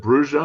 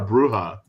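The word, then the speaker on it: Brujah: Like people always ask me, "Is it Bruja or Bruha?" And I go, "It's both."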